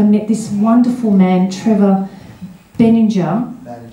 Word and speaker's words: Benninger: And that everywhere you go, and the people you meet, I met this wonderful man, Trevor Benninger. He said it rhymes with energy, but I just call him Trevor, you see.